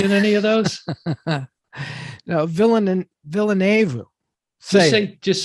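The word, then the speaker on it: Villeneuve: No, Villenueve. Just say Denny. Villenueve.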